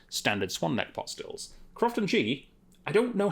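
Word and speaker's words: Croftengea: This is a Crofton Ghee, which is apparently how you're supposed to pronounce it. So that's what Tommy Boyd taught me. I've always pronounced it Crofton Jaya, and apparently I'm wrong.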